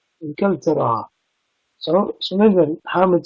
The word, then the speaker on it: إنكلترا: إنكلترا means England. Very similar to the French pronunciation Angleterre. Inkeltera.